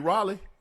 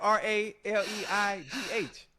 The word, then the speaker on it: Raleigh: You mean Raleigh? Raleia. Okay, close enough. That's how you say it. How you say it again? Raleigh. You for real? But it's spelled R A L E I G H.